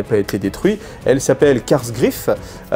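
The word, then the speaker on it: Kasr Kraf: Il y a une des forteresses qui n'a pas été détruite, elle s'appelle Karsgraf, on le prononce en allemand, mais enfin bon, ça a une consonance allemande, donc K-A-S-R, plus loin K-R-A-F, Karsgraf.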